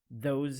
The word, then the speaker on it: those: that are common errors, those and these. Correcting this mistake will make you sound clearer. We have a tip here. The S in these words pronounced as Z sound. Those, these.